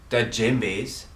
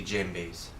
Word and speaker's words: djembe: to you guys about dead Jim B's you don't actually pronounce the D so it's actually Jim B's and if for those